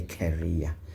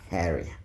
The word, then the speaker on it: carrier: not ker carer yes there's a difference in how you pronounce these words you can't say career this is not like a carrier it's a carrier yes part whatever